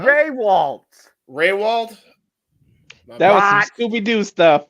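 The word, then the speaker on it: Rehwoldt: Retwold? Is that how you pronounce it? No? Raywald.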